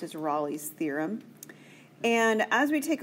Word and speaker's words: Rolle's: That is how it's pronounced, is Rolle's theorem.